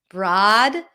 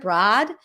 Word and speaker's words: broad: Broad. Broad. Broad. This is how the IPA shows it with an open AZ and father. Broad. You can round your lips a bit more.